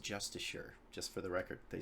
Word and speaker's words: Justicars: Um, so Justicars is spelled with an I and it's pronounced Justicure.